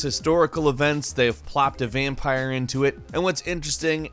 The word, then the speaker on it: Vampyr: 2018 number 10 is vampire with Y however it is pronounced vampire despite the Y vampire is an action RPG